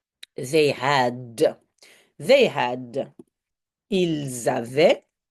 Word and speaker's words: avaient: Ils avaient. Now watch out, if it's plural, it's not just AI, but it's AIENT. Very long, a lot of vowels. Just pronounce like eh.